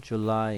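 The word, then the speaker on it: July: 입니다 써 보겠습니다 7월은 줄라이 있니다 줄라이 줄리가 아니고요 줄라이 있니다 써 볼게요 8월은 어거스트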